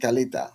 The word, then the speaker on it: Kaleta: because of the dialect, we don't pronounce the re. Instead of carre, we say calais. So Uh-huh. that means Kaleta.